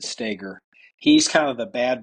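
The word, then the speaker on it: Stoeger: referring to uh Ben stagger you you you would spell it Stoger but you pronounce it stagger he's kind of the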